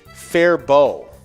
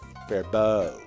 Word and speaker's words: Faribault: is silent apparently it's fair bow which makes sense because it's french canadian so french the t at the end usually is silent gotcha because apparently the